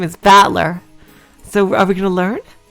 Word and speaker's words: Battler: And it's pronounced Battler.